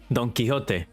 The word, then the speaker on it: Don Quixote: Don Quixote.